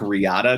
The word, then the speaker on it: Riata: My personal favorite was spec Riata, just because it rhymes with spec Miata.